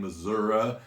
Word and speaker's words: Missouri: i hear that too why the eye all of a sudden becomes an a i'm not sure i'm not sure who's mispronouncing those i may have some egg on my face and find out that actually people in missouri pronounce it that way but as far as i'm concerned it's missouri so anyway this is